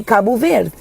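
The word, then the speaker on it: Cabo Verde: And if I'm going to say kabu ver I will say kabu ver. I'm not going to be like kabu ver like the what are we doing with the d.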